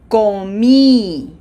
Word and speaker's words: comí: Closed O. Remember, this is not com, this is ko. And pronunciation emphasis, a little bit more umph for the highlighted syllable. Repeat after me slowly. Yo comí.